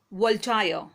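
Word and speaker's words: Voltaire: proof now let's learn about the next caller wall tyre wall tires original name was Francoise Mary a our way that is pronounced in French he was of France he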